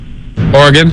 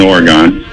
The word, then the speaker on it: Oregon: Oregon?